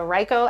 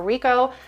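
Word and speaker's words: Ricoh: Of course, you can go right through the vendor and have the Ryko app, or Rico, however you pronounce it. I always say Ryko Theta.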